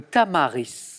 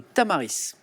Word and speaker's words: tamaris: Le tamaris, avec ce petit S qui se prononce à la fin, le tamaris.